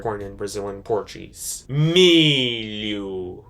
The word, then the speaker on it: milho: You're just, you know, it's there, but you don't pronounce the letter H when you say this word born in Brazilian Portuguese. Milu.